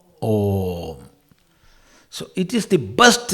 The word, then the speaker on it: Om: A plus U equals O plus M, Om.